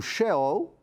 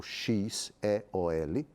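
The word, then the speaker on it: Sheol: d e s o Shell ou ch e o l ou X é ol tem duas escritas e duas pronúncias também era a mansão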